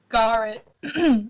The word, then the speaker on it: Gawrit: Gawrit. Sorry, Gawrit. Gawrt. So like, yeah, it's just Gawrit? like that.